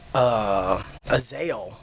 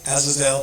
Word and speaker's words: Azazel: Azael was one of them. Azael, right? Azazel. It just Azazel. depends on what language you speak. Yeah, how you pronounce it.